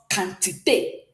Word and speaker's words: quantité: In French, remember Q, how do we pronounce Q? K, k, k. So this becomes quantité.